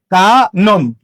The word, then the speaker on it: কানন: তাহলে কানন কি হবে? কানন, কানন। মধ্যবর্ণের অ উচ্চারণে হয়ে গেছে।